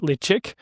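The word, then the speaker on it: Ledaig: single malt bottle of Ledig, or in Gaelic, it's pronounced Lechick, from the Isle of Mull.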